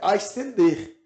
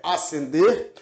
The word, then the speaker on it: ascender: o s mas aqui a pronúncia não é ascender a pronúncia é asender tal qual como eu tenho neste caso visto que aqui eu tenho um dígrafo o dígrafo é quando eu tenho duas letras e só um som Então embora eu tenha duas letras aqui S esse S não é pronunciado nós temos a pronúncia